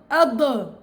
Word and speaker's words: ض: اي اني انا قول اض روح شو ساي فيه؟ افتح مخرجه وهو ما بده يفتح المخرج امتداد بده يضل عند منطقه التلامس امتداد الصوت في مخرجه اذا فتحته رح يصير في قلقله هي خطا شائع ثالث